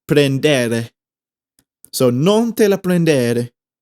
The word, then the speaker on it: prendere: The R's are supposed to be solid. They're supposed to sound like D's. So in prendere, it's not prendere, or maybe in Spanish it's prendere. In Italian it's prendere.